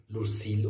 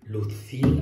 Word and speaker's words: Luzil: jetzt erst ein bisschen lucil um korrekterweise wird es ja eigentlich Luft viel ausgesprochen und dann werde ich